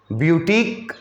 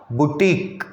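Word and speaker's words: boutique: हाँ, इसका प्रोनंसिएशन भी कुछ लोग बुटीक करते हैं, उसमें यह वर्ड प्रोनाउंस नहीं करते हैं। दोनों प्रोनंसिएशन चलता है हमारे यहाँ, ब्यूटीक या बुटीक।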